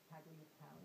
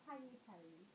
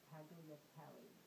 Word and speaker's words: Tagliatelle: Yeah, it's Tagliatelle. So Tagliatelle. No. Tagliatelle.